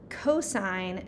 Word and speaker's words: cosine: So it looks like sin and tan and cos, but this is actually pronounced sine, cosine, and tangent.